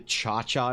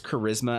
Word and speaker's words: charisma: better they do the chaa and people like them no they don't they have no friends if you pronounce charisma as cha you have no friends I'm sorry and those